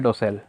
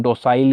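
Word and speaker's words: docile: आगे लिखा है डोसेल। इसे हम डोसाइल या डोकाइल कुछ नहीं पढ़ते हैं, डोसेल होता है, डोसेल। ठीक है, डोसेल इसका प्रोनाउंसिएशन है।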